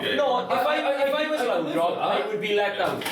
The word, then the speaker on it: Laudrup: How do you pronounce his name? Laudrup. Laudrup.